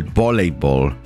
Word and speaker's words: voleibol: Spanish people tend to pronounce the V as a B, so they usually say el voleibol.